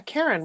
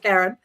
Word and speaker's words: Karen: Even though I pronounce my name differently, as everybody knows, Karen, not Karen.